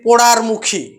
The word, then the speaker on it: পোড়ামুখী: পোড়ামুখী যেমন হচ্ছে পোড়ামুখী পোড়ামুখী থেকে আমরা অনেক সময় উচ্চারণ করি পোড়ারমুখী এই যে পোড়ামুখী থেকে পোড়ারমুখী এই যে র ধ্বনির আগমন ঘটলো উচ্চারণের সুবিধার্থে এই র